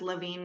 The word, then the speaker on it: LaVigne: we're we're on all social media channels as LaVine Naturals so it's spelled the French Canadian way l a v